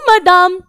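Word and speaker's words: madame: Mister brown ने कहा बोजू मदाम, बोजू मदाम, जैसे बादाम वैसे मदाम, बोजू मदाम यानी कि गुड मॉर्निंग मैम, मदाम यानी कि मैडम, गुड मॉर्निंग मैडम।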